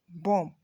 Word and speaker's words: bomb: There are a number of words with silent B in English. So we have womb, thumb, comb, climb, plumber, bomb. In all of these words and more, the B is silent.